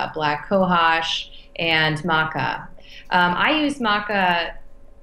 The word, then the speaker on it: maca: that's another question I have um is it Maca is that how you pronounce it yeah yeah yes do you do